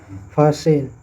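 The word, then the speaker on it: fasten: उसी प्रकार silent T, जैसे फासेन, जैसे लिसेन।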